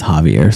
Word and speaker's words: Javier: I was wrong on the pronunciation of this gentleman's name. It is Javier, so Clint was right.